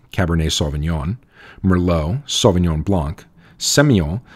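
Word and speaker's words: Sémillon: svon Mero svon Blanc seon that you may hear pronounced semon by some Australians and P Noir following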